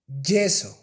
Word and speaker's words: yeso: So try to make it softer. Instead of June, June, June, June, June, June, lluvia, lluvia, yeso, yeso.